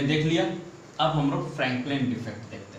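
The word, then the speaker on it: Frenkel: Schottky defect हमने देख लिया, अब हम लोग फ्रैंकलिन डिफेक्ट देखते हैं, ठीक है। चलो फ्रैंकलिन, यहाँ पे आ जाओ, ठीक है, फ्रैंकल डिफेक्ट, फ्रैंकल डिफेक्ट भी बोलते हैं इसे, बहुत लोग फ्रैंकलिन भी बोल देते हैं, ठीक है।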